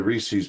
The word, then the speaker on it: Reese's: I like the the Reese's Peanut Butter Cup ones are weirdos this is Reese's yeah it's Reese's Pieces not a monkey it's rhymes with pieces Reese's piece it's not